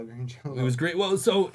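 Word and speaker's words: Green Jellÿ: So, it was it says green jelly, but the Y is pronounced like an O, so it's green Jell-O.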